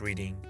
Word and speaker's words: Reading: First of all, it's not pronounced Reading.